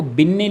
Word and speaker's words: Binet: ठीक है, कहीं पर आपको बिन्ने लिखा मिलेगा, कहीं पर बिने मिलेगा। इससे आपको ज़्यादा कन्फ्यूजन क्रिएट नहीं करना है, क्योंकि इंग्लिश में जो इनको हम कहते हैं वो अल्फ्रेड, इनकी जो स्पेलिंग है बाइनेट। ठीक है, ऐसे लिखा जाता है बिन्ने को। तो ट्रांसलेट में BINET, ट्रांसलेशन में का आपका कहीं पर बिन्ने आपको लिखा मिलेगा, कहीं पर बिने, दोनों सही हैं।